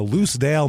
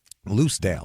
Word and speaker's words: Lucedale: God it's been so long we're going to loose Dale Mississippi loose Dale loose Dale l u CE E Dale oh okay loose Dale Mississippi it's about how they spell loose also